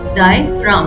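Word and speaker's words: diaphragm: और डायफ्राम में याद रखना है जी साइलेंट होता है ना, तो स्पेलिंग क्या हो जाएगी, डाई डी आई ए डायफ्राम पी एच आर ए जी एम जी जरूर लिखना है, पर जी साइलेंट होता है जब हम इसे प्रोनाउंस करते हैं.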